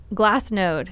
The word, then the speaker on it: Glassnode: can you spell that glass node g-l-a-s-s-n-o-d-e because i was hearing glass like known or no or last node node okay yeah so everything is